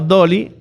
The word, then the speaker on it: DALL-E: Integrar ChatGPT con DALL-E, pronunciado Dolly, requiere un conocimiento técnico de programación y capacidad de trabajar en tecnología de inteligencia artificial.